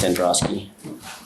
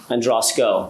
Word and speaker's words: Andrasko: Androski, I believe it's pronounced Androski. Androsco, I apologize, doctor.